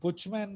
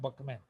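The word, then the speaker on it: Buchman: BUCH, बुचमैन लिखा है लेकिन प्रोनाउंसिएशन है बकमैन।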